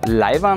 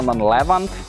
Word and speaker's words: leiwand: So instead of saying "leiwand" you say "llleiwand". Ois leiwand! "lll"... it's a sound that is really catapulted out with the tongue.